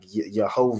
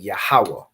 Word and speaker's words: Yahweh: So you're not saying like Yehovah or however the oppressor would pronounce it. However they pronounce it with their Yiddish. You convert it into the ancient Hebrew. So you're saying Yahweh.